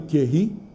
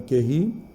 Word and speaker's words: Curie: A Madame Curie, aqui a gente fala Madame Curie, Madame Curie, eu já ouvi várias pronúncias, qualquer uma serve. O mais normal seria falar Madame Curie.